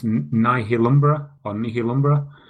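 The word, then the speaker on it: Nihilumbra: other game on the Vita called and it's pronounced nah he'll Umbra on me kill Umbra it's one of the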